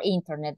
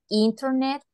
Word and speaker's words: internet: So let me tell you this about pronunciation. You can say internet or you can say internet. Why? Because when you have the N and the T together, you can omit this part.